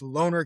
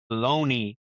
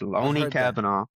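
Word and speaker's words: Lone'er Kavanagh: Brennan Roy Val versus Loner Kavanagh. I found out it's pronounced Looney, not Loner. Looney. I've heard that. It's Looney Kavanagh.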